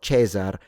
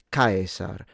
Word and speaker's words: Caesar: At least tell them it's not Cesar, it's Caesar in period.